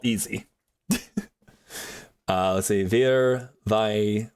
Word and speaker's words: wir: Wir, vi, was. Yes. Okay. Like, yeah, that's all that too. I do know that the W makes a V sound, so it's like wir,